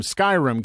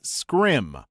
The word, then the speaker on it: Skyrim: a guy who came in around the time Skyrim came out and asked if we had the new Elder Scrolls game I said Oh you mean Skyrim he laughed condescendingly and said no I mean scrim thinking he was just mistaken I was like